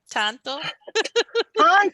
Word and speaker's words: tanto: So it's spelled Canto. T-A-N-T-O. Canto. Uh-huh. Canto. Cuesta. Cuesta. There you go. Que cuanto Tan, que tanto.